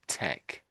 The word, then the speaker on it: tech: I suppose really the the H is silent when we read this out in English. So, it's almost like it was t e k or t e c, tech.